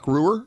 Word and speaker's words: Reuwer: How do you say that last name? Mark. That's a Reuwer. Mark Reuwer. Is that right, Carolyn? That's 100% correct.